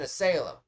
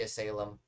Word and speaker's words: asylum: War it's an asylum I know he said Asylum I say as Salem you know I should probably stop saying as salum because I'm definitely saying it wrong so I'm going to start saying Asylum now lesson learned this Asylum